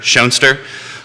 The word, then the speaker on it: Schoenster: my signs that say nature nurture shoner uh it's not only a great way to help people pronounce my name correctly which Jerry successfully managed